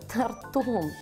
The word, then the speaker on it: тортом: Приходи ко мне сегодня, я тебе тортом угощу. Приду. Я торты люблю. Запомните, Маша, Виталик. Нельзя лакомиться тортом. Такого слова не существует. Можно полакомиться только тортом.